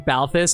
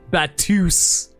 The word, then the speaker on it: Balthus: I am laughing at the text of speech pronouncing Balthus as Batus.